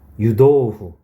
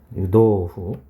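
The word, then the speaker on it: 湯豆腐: 예, 이것도 뭐 두부가 나오는 건데, 예, 유도후. 원래 토후인데 유하고 합쳐서 도후가 됩니다. 유도후. 자, 뭐라고 읽냐면, 유도후.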